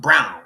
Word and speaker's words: Braun: Is the name look like it's Braun, but it's really spelled it's pronounced brown, right?